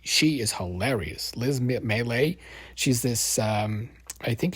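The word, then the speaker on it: Liz Miele: I like uh uh Liz Mel I think that's how you say her name Liz l i z m i e l e she is hilarious Liz melee she's this um I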